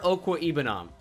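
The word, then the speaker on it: Okwuegbunam: the best titan in this draft it's albert okwe ibnam that's how you say it albert okwa ibanon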